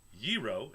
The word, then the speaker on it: gyro: as the Greek dish yiro is pronounced yir with the emphasis on the first syllable whatever Greek burrito I